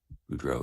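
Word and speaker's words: Boudreaux: budro b r a n d o n Buro is b o u d r e a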